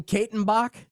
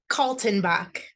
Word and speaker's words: Kaltenbach: Did I say it right? Katenbach? Nah, not really, but that's okay. I'll answer to anything. What is it? Tell me what it is. Kaltenbach. Oh, that's an L.